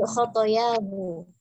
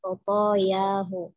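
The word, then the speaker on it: خطاياه: Sedikit dalam pengucapannya, man tawaddo'a kurang ditekan, dotnya bertasydid, kemudian khotoyahu, kesalahan-kesalahannya Umi bacanya tadi khotoyahu ya, pokoknya juga dipanjangkan ya Umi, khotoyahu.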